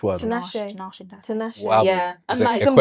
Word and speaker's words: Tinashe: Like I've got like a I've got like a Tinashe Tinashe. How do you Which say one? Tinashe.